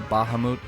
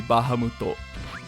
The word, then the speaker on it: Bahamut: Do you say Bahamut? I like to be a little extra and put a little RZ on it. And I say Bahamut cuz I think cuz honest cuz one I'm right about everything and that is how you're supposed to pronounce it. Uh in Japanese it would be Bahamuto.